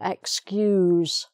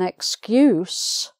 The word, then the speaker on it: excuse: or excuse excuse me to excuse somebody is the verb but if you use it as a noun um if i make an excuse why i can't go to somebody's party i gave them a good excuse and that's a noun excuse with s excuse me i have an excuse so um it depends on what part of speech it is a verb or a